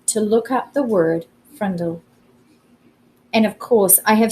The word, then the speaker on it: Frindle: And there, between frimmel and fringe, he read Frindle, pronounced Frindle.